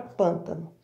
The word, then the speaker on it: pântano: Vamos chamar? Pântano. A sílaba mais forte é o pã. Eu pronuncio ela, prolongo ela muito mais.